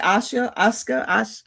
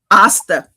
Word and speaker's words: Asta: James, how do you pronounce? I keep saying it. Asuka. Isekai. No. James said I would not like it. What is it? Asuka? You're muted. Asta.